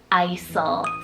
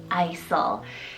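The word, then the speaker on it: Eysel: Last E option here, guys, is the name Isel, spelled E-Y-S-E-L, Isel.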